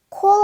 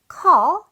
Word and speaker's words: call: 소리로 읽어 보기 전에 call 발음 주의를 하셔야 됩니다 콜 아니고 call 이렇게 어 발음을 내주셔야 돼요 call 오케이 자 그럼